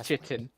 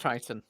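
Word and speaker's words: chitin: you have Kit I used to say it's chitten CU it looks like chitten but it ain't could be CH kitan yeah it's spelled CH but it is pronounced titon okay I I very much identify with Mr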